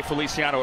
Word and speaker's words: Feliciano: Of course I know how to say Feliciano. It rhymes with Siciliano. Of course.